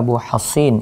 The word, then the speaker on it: Abu Hasin: Ia berkata, Syu'bah bercerita kepada kami dari Abu Hushain, dari Abu Solih, dari sini bacanya Abu Hasin, ya, terus. Dari Abu Hasin, dari Abu Solih, dari Abu Hurairah.